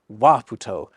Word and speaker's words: Waputo: In Tokipona, you always stress the first syllable of a word. That's why it's Waputo, not Waputo.